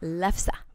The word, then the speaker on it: lefse: It's lefse.